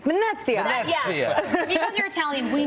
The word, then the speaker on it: Venezia: You got to say it like Italian, like Venezia.